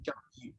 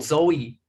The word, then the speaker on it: Zhou Yi: We also refer this book as another name, Zhou Yi.